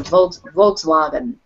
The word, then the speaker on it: Volkswagen: Is it Germans that they have a W that's pronounced like a V? So Volkswagen is a Volkswagen.